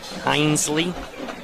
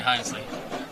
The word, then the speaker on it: Hinesley: Now, the E is silent.